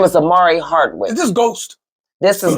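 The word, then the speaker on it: Omari Hardwick: right what we got next we got um Amari hardwood said start a hard week I said his name wrong I have my apologies Amari Hardwick said star sent out the Batman single asking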